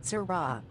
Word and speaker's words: Syrah: just fine thank you a little aggressive it's pronounced Syrah I have MetroPCS oh my god I have